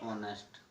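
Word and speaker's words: honest: जब किसी वर्ड में ए साइलेंट होते हैं, जैसे आवर ऑनेस्ट.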